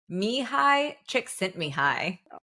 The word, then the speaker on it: Mihaly Csikszentmihalyi: Mihai Csikszentmihalyi.